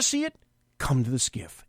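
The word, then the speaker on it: SCIF: one once you take that out of a skiff now you may not know what a skiff is it's an SCI SF it's pronounced GIF that's called a sensitive compartmented information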